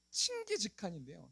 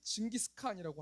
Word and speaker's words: 칭기즈칸: 사람이 여러분 어떤 사람이냐면 원래 발음은 칭기즈칸인데요. 저는 그냥 쉽게 징기스칸이라고 할게요.